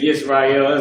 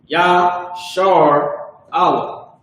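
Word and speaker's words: ישראל: This say Yisrael, that's garbage. This is H3478, Yashar Allah. These little dots is what they're using to make the pronunciation, their Yiddish pronunciation of Yisrael, which is garbage and that's not correct. That's just the white man changing the pronunciation.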